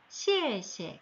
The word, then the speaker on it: 谢谢: 이런 소리를 내주셔서 谢谢, 네, 이렇게 되면 고맙습니다.